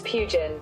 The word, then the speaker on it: Pugin: Let me check the pronunciation. Augustus Pugin.